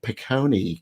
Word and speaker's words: Picconi: It's Picconi.